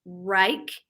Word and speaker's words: Wrike: And then also, I think it's pronounced Rike. It's WRIKE, and that's a collaboration